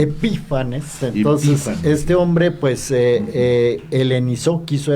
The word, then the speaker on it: Epífanes: Bueno, ya lo comentó Raúl, o sea, todo iba sobre ruedas hasta que llega Antíoco IV Epifanes, ¿verdad? Porque se manifiesta. Con acento en la y este Epífanes, entonces, este hombre pues quiso helenizar el templo y a los judíos.